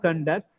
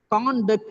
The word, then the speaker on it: conduct: of the board here when it is used as a noun or an adjective the first syllable stress it's very simple it works as a verb the second syllable is stressed when it works as